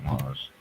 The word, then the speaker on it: mangent: De jeunes enfants mangent. Yeah. Okay, Kamoy, you need to remember that ENT is silent.